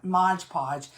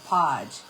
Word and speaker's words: Mod Podge: And you know how people say Modge Podge? I was saying that just to be funny, but somebody said that I sounded like a country hick saying Mod Podge Modge Podge.